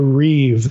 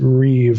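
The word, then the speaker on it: ריב: So, anyway, on on page 37, she gets into what what this is Hebrew terminology, the Reeve. That's R I, but you pronounce it Reeve like it's R I V.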